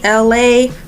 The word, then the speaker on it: Elay: Hey guys, it's me, Elay, pronounced like Los Angeles, California, like L-A, like L.A. but it's really spelled E-L-A-Y.